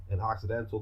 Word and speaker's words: Occidental: it's accidental you know spelled like accidental but with all instead of an a right so an accidental roughly translated means Westerner right but it's also white people so you have Occidental's an Occidental culture and it's Orientals